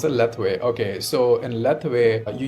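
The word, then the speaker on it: Lethwei: called l lith or something yeah you said leway leway right that's how you pronounce it leway okay so in leway you use uh all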